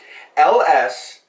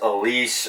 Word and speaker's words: Ellesse: on the italian-american part LS as many people have mispronounced over the years and butchered as a lease or Alesi a it is LS and it's it's actually